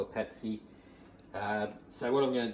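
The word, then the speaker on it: patis: You can use patsy. I think I'm pronounced that right. P-A-T-I-S. That's just a light fish sauce, but yeah, if you're a Filipino, that's what they call it, patsy.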